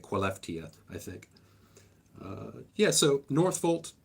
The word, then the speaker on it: Skellefteå: It's spelled Skellefteå, but they're pronouncing it Skellefteå, I think.